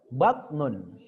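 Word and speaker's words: بطن: Perut batnun. Batnun ya, ada penekanan di toknya itu batnun.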